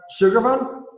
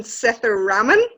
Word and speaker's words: Sethuraman: So it's Sethuraman. It's Sethuraman, but that was pretty good, Joe.